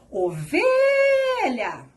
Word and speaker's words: ovelha: Ovelha! Perceberam que o V foi o que eu falei de maneira mais prolongada? Essa é a sua sílaba tônica.